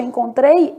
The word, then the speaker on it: encontrei: E no caso de encontrei, esse N é nulo.